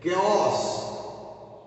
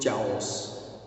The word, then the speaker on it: chaos: Chaos. Don't pronounce it chaos.